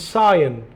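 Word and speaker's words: scion: इट्स सायन, इट्स सायन। ध्यान से देखिए, मैं शियन गलत बोल गया शायद।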